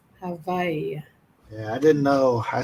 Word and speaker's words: Hawaii: Va, as in victory. Hawaii.